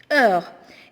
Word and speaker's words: heure: Heure. Ici, si vous remarquez bien, on ne prononce pas le H et on ne prononce pas le E.